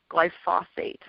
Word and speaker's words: glyphosate: because it's kind of a funny way to pronounce it, but it's called glyphosate.